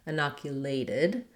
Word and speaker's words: inoculated: see that schwa there inoculated we have our diphthong a glide and hold that a vowel a little longer our t ends up sounding like a flap or a light d in this word and